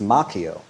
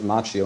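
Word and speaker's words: Macchio: Danielson, uh, played by Ralph Machio, which is actually the Italian way pronounced Mchio, but I believe he pronounces it Machio, and I'll respect his decision.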